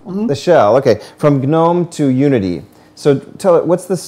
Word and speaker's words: GNOME: I've always heard it as GNOME. GNOME. All right. So it's a little weird, but we'll call it GNOME.